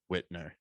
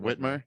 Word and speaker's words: Whitmer: blah but the fbi plotted to kidnap governor whitner uh how do you say it whitmer yeah whitmer okay that's a true story it's